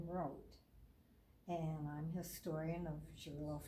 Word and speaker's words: Roth: Most people pronounce it Roth, but I go by the German name Roth.